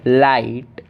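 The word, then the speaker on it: light: और जी एच तो हमारा साइलेंट है ही, और टी को हम पढ़ेंगे ट, तो ला ई ट, लाइट, लाइट, इतना हमारा हो गया लाइट।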